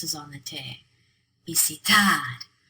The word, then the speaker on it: visitar: Visitar. The stress is on the tad at the end. Visitar.